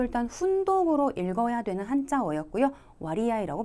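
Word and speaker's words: 割合: 와리아이라고 발음하십니다.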